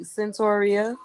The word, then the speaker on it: Santoria: how are you good how do you say your name i feel like i said it wrong you said it right santoria yeah he said it